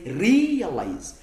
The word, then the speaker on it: realize: When we have ze, iyo dufite uyu mugemo, this ending, uyu musozo ze. When you have ze here, tubara three syllables, tubara imigemo itatu, then umugemo wa gatatu tugashyiraho stress.